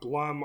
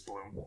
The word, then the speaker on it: Blum: I like go back and forth on Blum or Bloom. It's Bloom.